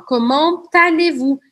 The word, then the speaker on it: comment allez-vous: Liaison. Eu falo comment allez-vous? Eu pronuncio o T porque a próxima palavra começa com A.